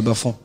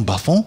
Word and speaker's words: Bafang: La région de l'Ouest, plus précisément à Bafang. Et comment est-ce qu'on prononce Bafang avec l'intonation à la française ?